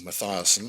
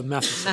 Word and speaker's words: Matheson: Matheson, or Mathiasen, if that's the right way of pronouncing it. No, Matheson. Matheson. Matheson. As in Jordan Matheson.